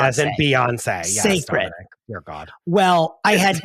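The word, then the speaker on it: Cécred: I didn't know that the CE was say as in Beyonce. As in Beyonce. Sacred.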